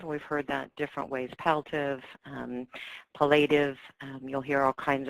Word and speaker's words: palliative: next slide please so palliative and it is pronounced palliative we've heard that different ways palliative palliative you'll hear all kinds of noise about